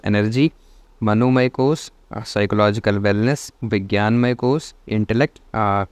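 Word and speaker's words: vijnanamaya: विज्ञान मय कोस इंटेलेक्ट इसको आपको विजनान मय कोर्स नहीं पढ़ना है I don't know why spelling is like this लेकिन विज्ञान में कोष को ही कोष को ऐसे ही लिखा जाता है वी आई जे एन ए एन सो आनंद में कोष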